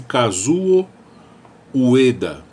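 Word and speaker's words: Kazuo Ueda: do novo presidente do banco do Japão chama-se casuo Ueda casou se escreve k a z o Ueda da Ueda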